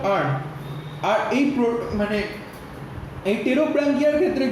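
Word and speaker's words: Pterobranchia: ওকে, একটা হচ্ছে এন্টেরোপনিউসটা, একটা হচ্ছে এন্টেরোপনিউসটা, এন্টেরোপনিউসটা, আরেকটা কি, আরেকটা হচ্ছে প্রোটোব্রাঙ্কিয়া, আরেকটা হচ্ছে টেরোব্রাঙ্কিয়া। ওকে, টেরোব্রাঙ্কিয়া, একটা হচ্ছে এন্টেরোপনিউসটা, আরেকটা টেরোব্রাঙ্কিয়া। পিটা সাইলেন্ট থাকবে।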